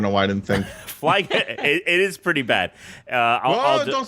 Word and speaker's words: Flygon: May be a combination of fly. Whoa. And dragon. Dragon. No way. Which means that we should be pronouncing it Flygon.